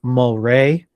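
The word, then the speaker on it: Mulwray: But first off, I want to say that probably Johnny picked this movie so he could get vindication off of the pronunciation that it's Mulray.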